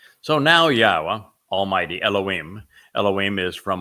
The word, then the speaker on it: Yahowah: W again uh and the W is pronounced as an o sound as it is in Torah as it is in shalom and since the Torah